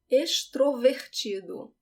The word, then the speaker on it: extrovertido: Eficiente, elegante, elegante, extrovertido. So the pronunciation is not X, is ex. Extrovertido.